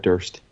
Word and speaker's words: Durst: Fred Durst. Nah. Fred Durst is the worst. Chocolate starfish. It's so fitting that his name rhymes with worst.